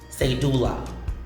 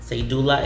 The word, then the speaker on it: cedula: Cedula. Cedula is a personal tax certificate, although we pronounce it very similar to the Spanish pronunciation, cedula. And here, as an English word, it's cedula.